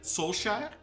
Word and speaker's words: Solskjaer: So, as you saw in the press conference, Solskjaer said Solskjaer, but apparently in certain regions in Norway they do pronounce the K.